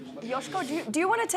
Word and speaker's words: Joško: not the first time correct pronunciation is yosko Yos yosko Yos yos yosko it's been a difficult